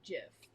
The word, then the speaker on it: GIF: i think yeah okay the guy who created them said it's supposed to be pronounced jiff but i associate that